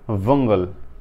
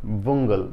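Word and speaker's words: bungle: রবিন পুরাই ভন্ডুল করে দিয়েছিল ঠিক আছে এর উচ্চারণটা হচ্ছে ভঙ্গল ভঙ্গল ভঙ্গল ভঙ্গল আচ্ছা তো আমি বলেছি নেগোশিয়েট এখানে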